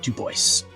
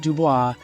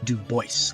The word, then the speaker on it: Du Bois: So, let's talk about web Duboce. And by the way, I'm not mispronouncing it. It's not Dubois. He pronounced it duboce like like voice like I with my voice I am pronouncing Duboce.